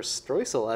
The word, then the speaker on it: streusel: So the streusel, or streusel as it's pronounced in German.